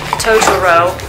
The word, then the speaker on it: Totoro: daughter it is a set from the film Totoro that's how you say it I didn't watch